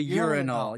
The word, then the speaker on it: urinal: This is a classic British person putting the emphasis on the wrong syllable, as many a drama teacher has said, and it is not a nice sound.